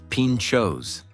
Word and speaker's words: pintxos: Pintxos, pronounced pintxos, are small, delicious bites that have become a cultural staple here.